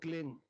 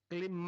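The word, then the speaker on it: क्लीं: की मात्रा और बिंदी इसकी ध्वनि निकलेगी ग से क्लिंग क्लिम में नहीं संस्कृत में क्लिम होता नहीं क्लिंग अंग का उच्चारण होना पड़ेगा एक क्लिंग को जपने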